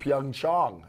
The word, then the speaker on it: Pyeongchang: Pyeongchang is actually how you pronounce it. Apparently the Koreans pronounce it like that, yes.